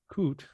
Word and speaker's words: COOT: And what's interesting is COOT, do I pronounce that properly? Yes.